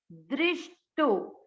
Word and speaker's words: दृष्टो: इसको करेंगे right side, द्रि है ये, द आधा है, द के नीचे हलन और नीचे री से ऋषि की मात्रा, इसको पढ़ा जाएगा द्रि। द्रि आधा श, दृष्टो, दृष्टो।